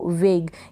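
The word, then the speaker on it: vague: फिर ये है वेग, क्या पढ़ा आपने इसको, वेग। यहाँ पर लास्ट में ई है, साइलेंट है।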